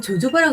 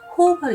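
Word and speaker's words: jojoba: 호호바 오일은요, 호호바, 그러니까 보면 조조바라고 읽게 되잖아요. 이게 스페인어인데 제일 H로 발음하기 때문에 호호바로 읽힌다고 해요.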